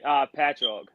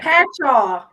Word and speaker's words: Patchogue: So, Alenia and I were trying to figure out how you pronounce the part of New York that you're from. Okay. Patchogue. Would you? Yeah. Patchogue.